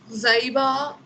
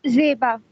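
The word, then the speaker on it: Zaiba: জাইবা, Ma'am, it's Zeba. ও জিবা। ও Yes. এটা না আমার একটু টাইম লাগবে। ওকে ওকে জিবা। Yes, ma'am. Present. A silent. Ma'am, I silent. Okay, Yes. then what would be its pronunciation? Zeba. Ma'am, Zeba. Ha, ma'am, Zeba. Zeba. Okay, I silent.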